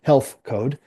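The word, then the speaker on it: HLTH Code: Um, hlth is how it's spelled, but it's pronounced health code.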